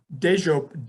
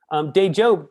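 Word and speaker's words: Dejope: So the closest thing we have is like soup du jour, right?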